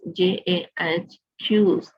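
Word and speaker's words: Jaques: अब यहाँ पे क्या कह रहा है, according to जैक्यूज, pronounce Jahq, a character in Shakespeare's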